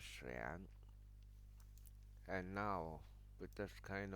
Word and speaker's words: 玄: Now the printed form and that the pronunciation in Mandarin Xuan, and that is in Cantonese Yun.